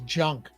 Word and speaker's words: Junk: Your last name is junk. I even looked it up. I was like maybe it's pron maybe the J is silent, you know? Maybe it's pronounced with an H. It's not.